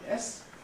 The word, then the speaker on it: yes: So if we take the word yes, how many syllables does it have? One. Yes. Even though you can think of it as being a sort of little E and then an N and so. Yes. This E is non-syllabic and the whole thing therefore is one syllable.